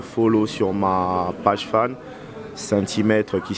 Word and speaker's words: Sainthy: Donc, je vous invite tous à me follow sur ma page fan, Centimètre, qui s'écrit S-A-I-N-T-H-Y.